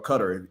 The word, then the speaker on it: Qatar: Or Qatar. Let's pronounce it as Qatar.